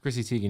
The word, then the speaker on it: Chrissy Teigen: me a reread feature or meek mill follow chrissy teigen that's how you pronounce her name chrissy teigen yeah okay i wanna mess that up um